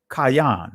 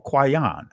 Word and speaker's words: Cain: I want to touch on Cain, right? Kayan or Kwayan. I'm going to touch on Abel, Habal. Those are the ancient Hebraic pronunciations of their names, to show you and